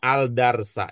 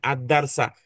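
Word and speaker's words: الدرس: Yang mana Bu Yuni bacanya Aldarsa, saya bacanya addarsa.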